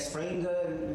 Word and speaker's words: Springer: and we highlight that springer is not spring it's it is a springer because it's a German words and I give you example springer spelled like burger and I told you I'll